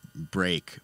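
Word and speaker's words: Braek: really cool Australian producer I think you pronounce it break but it's b-r-a-e-k and uh that is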